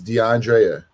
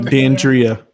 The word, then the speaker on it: Dandria: You go by, but your real name is DeAndrea. No, Dandria. Dandria. Dandria. Why don't you go by Dandria? You just like. because everybody mispronounces it. It's They say exhausting. Like they did DeAndrea, it, don't they? They say They say DeAndrea.